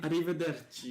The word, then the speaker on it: Arrivederci: Arrivederci.